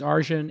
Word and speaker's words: Arjun: He's Arjun, Sthi.